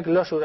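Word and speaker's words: Clojure: Se pronuncia Closure, aunque penséis que lo digo mal.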